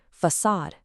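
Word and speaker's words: façade: No, that C has a soft s sound and all the stress goes on the second half of the word. So, you get facade.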